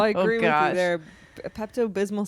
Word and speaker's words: Pepto Bismol: it right Pepto bismal you're not familiar with Pepto Bismol for yes but I don't know how to pronounce the second word bis Pepto Bismol you